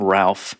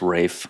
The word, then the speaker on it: Ralph: We got Ralph and his fines, of which there are many. He is fine. Mhm. I know it's Rafe. Stupid name. I'm just calling it. Yeah, that's how you pronounce it.